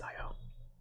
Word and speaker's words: Io: moons such as io i think it's pronounced io it's i o our promising place is